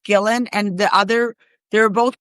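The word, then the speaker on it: Gillan: So Maria Mazziotti, I think it's pronounced Gillen, and the other, they're both poets.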